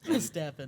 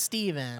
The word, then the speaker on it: Stephen: I was like oh I've heard of these Stephen King books stepan they laughed at me so hard a cuz you didn't know it was Stephen I didn't know how to say it so the pH it was a little confusing if you're young that